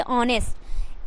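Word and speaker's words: honest: स्वस्थ उसी तरीके से रूल नंबर टू को देखिएगा आप किसी वर्ड में एच के बाद ओ हो तो एच क्या हो जा साइलेंट है मतलब कि किसी वर्ड में एच के बाद एच के बाद ओ हो तो एच जो है वह साइलेंट हो जाएगा जैसे यहां पे देखिए ऑनेस्ट एच से ओ प्लस एन एसटी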